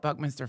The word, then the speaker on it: Buckminster: Buck, not bunk. I said bunk, didn't I? Buckminster Fuller.